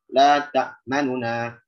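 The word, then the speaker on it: لَا تَأْمَنَّا: La ta'manuna. La ta'manuna. Jadi manuna. Nah, jadi nu-nya itu tidak sempurna 1 harokat. Dia hanya 2/3 harokat. Masih disisakan sebagian besar suara dia.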